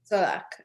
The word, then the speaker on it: Czollek: How do you pronounce his last name, Simone? Czollek? Czollek.